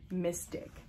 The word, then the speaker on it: Myzztic: you guys can see that it is it is spelled m-y-z-z-t-i-c mystic okay um then we got an enzymatic exfoliating